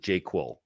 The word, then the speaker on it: JQL: So I am experienced with JQL, and I love the way that you pronounce it, JQuel. It's like I think that's gonna.